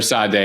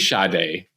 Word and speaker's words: Sade: wrong so admission here I I called her Sade day and you're like she's shade mosh I'm like you're right chill and for